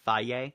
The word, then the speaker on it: Feige: pronounce his name, but I just call it like the yogurt, Feige. I've heard Feige also. I've heard Feige too, but I prefer Feige. So Feige. Yeah, we're going to go with Feige.